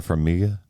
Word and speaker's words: Farmiga: You get it's Vera Farmiga is how you pronounce her Yeah.